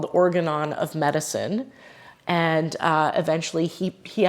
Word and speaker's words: Organon: So you said Organon is how you say it.